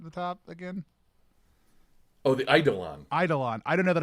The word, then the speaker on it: Eidolon: I definitely had a hard E at the beginning of that. Sorry, it's Eidolon.